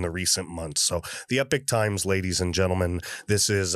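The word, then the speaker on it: Epoch Times: but they say it's the Epic Times. So I would think Epic would be EPIC. No, this is EPOCH, but it's become a reliable source in the recent months. So the Epic Times, ladies and gentlemen, this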